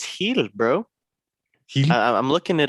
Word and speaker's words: Gil: I think it's heel, bro. Heel. I'm looking it up right now. Brian The Heel.